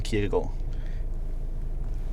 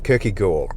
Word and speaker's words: Kierkegaard: It's a like a hidden D. You don't pronounce the D. Okay, so it's really just an R. Kierkegaard.